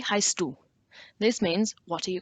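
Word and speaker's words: heißt du: a new question v heistu this means what are you called the strange b looking symbol in the middle of the word represents a double s so pronounce as such the heist do one of those like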